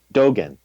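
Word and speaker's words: Dōgen: Dogen.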